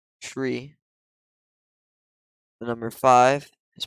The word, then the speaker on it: tree: then also for numbers the number three is pronounced tree the number five is